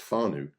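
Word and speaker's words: whānau: word on the screen w n a u pronounced fu is a marry language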